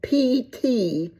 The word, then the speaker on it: ptomaine: I can pronounce it, Ptomaine, and I think that you don't say that P. I think you call it ptomaine.